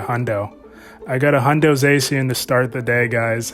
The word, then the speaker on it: Zacian: Is that Zacian? I believe you pronounce it, Zacian.